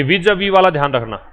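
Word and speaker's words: vis-à-vis: तीसरी बात, ये विज अवी वाला ध्यान रखना, इसका प्रोनाउंसिएशन जो है ये विज अवी है। ठीक है, विज अवी, ये विज अविज नहीं पढ़ते, इसको प्रेपोजिशन कहा जाता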